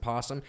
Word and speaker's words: opossum: want to say um you know how there's that o before possum so it looks like opossum but you actually pronounce it possum now this [ __